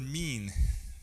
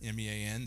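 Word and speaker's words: מִין: It's the word mean. All right? It's not spelled me, but it's pronounced like the English word me-an.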